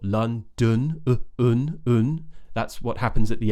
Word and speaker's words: London: I hear are either London when people pronounce it more how it's spelled with the O's right Lon that's incorrect the other one is Landon and that's often because they don't know how to pronounce the uh sound like in butts now I've done a lesson on this sound already but essentially it's the schwar sound which is uh like in about or Lun that's what happens at